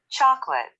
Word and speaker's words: chocolate: Chocolate. Chocolate. Chocolate. Chocolate. Chocolate. S. Broccoli. Broccoli. Broccoli. Observe, people, in chocolate, we only have 2 syllables, not 3.